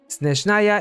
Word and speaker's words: Snezhnaya: Snezhnaya is a Russian word that is actually pronounced Snezhnaya, and it's an adjective that means snowy.